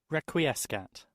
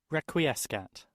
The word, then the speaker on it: Requiescat: देखिए इसकी प्रोनाउंसिएशन को आप सुने ताकि आपको थोड़ा बहुत ये बोलना आए. Requiescat. Requiescat. Requiescat.